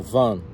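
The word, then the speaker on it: Vaughan: jeito que se escreve, tem um jeitinho aí do canadense pronunciar, meio com sotaque, que seria tipo Van. Tem gente que fala que é Vol, tem gente que fala que é Von, tem gente que fala que é Van.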